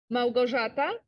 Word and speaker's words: Małgorzata: Thomas, who is Małgorzata, you must be Polish then. That's how you say it, Eric. How is it? Małgorzata.